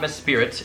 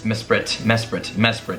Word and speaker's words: Mesprit: But honestly, after realizing I just mispronounced Mesprit, it's not Mespirit, it's Mesprit.